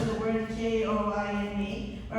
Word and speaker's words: Koine: Loretta is asking me to pronounce the word K-O-I-N-E. All right. You're familiar with the pronunciation koine. By the New Testament times, the pronunciation has evolved and is kimi.